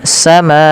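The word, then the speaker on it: السماء: Kemudian pada lafal samaa panjangkan huruf ma sepanjang empat atau lima harakat dan tidak boleh dikurangi ya teman-teman karena di sini ada namanya mad wajib muttasil.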